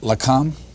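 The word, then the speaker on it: LAKAM: I know I'm not going to pronounce this right. LACAM? Yes, that's Is that right. Yes. That's the Science Liaison Bureau, or the Israelis called it LACAM, which protected the nuclear secrets.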